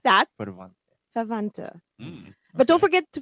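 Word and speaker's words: Verwandte: Now, this is messed me up because the W is usually a V sound, but then there's another V.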